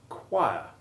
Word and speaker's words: choir: interesting and useful examples the word choir has the long i1 sound as in climb choir it is exactly the